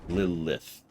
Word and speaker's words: Lilith: You see, even something like Lilith is something where you really emphasize the two syllables, like I was just talking about. Lilith.